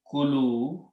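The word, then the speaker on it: كُلُوا: When you put a wow, it becomes a plural and it is pronounced as kulu.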